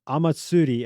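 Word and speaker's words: Omatsuri: the Baron Amatsutsi, the horror One Piece movie, Amatsuri and the Secret Island.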